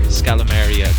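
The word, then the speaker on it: Scalameriya: There, Scalamaria. Got it. I think. Scalamaria.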